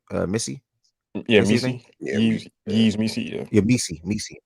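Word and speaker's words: Missi: Missy.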